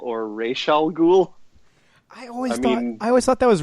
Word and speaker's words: Ra's al Ghul: the animated series that the pronunciation was race because of the Arabic origins of the name but then I mean if you watch arrow or Batman Begins they still say Ra's al Ghul so it's a denny